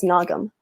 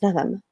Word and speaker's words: Naghem: i i introduce myself as nagam but at home in um in spaces where i am with my community members um i introduced myself as an adam um and that's the arabic way of saying my name and so masks on